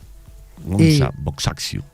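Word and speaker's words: Agnes Gonxha Bojaxhiu: Gohan Cómo se pronuncia Gonzalo goncha goncha Sí goncha boxxu así se pronuncia la beata madre Teresa de Calcuta fundadora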